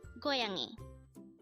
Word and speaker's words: 고양이: today is koyangi which means cat again it's goyangi how do you write koyangi in Hangul that is composed of three syllables for the first syllable go we need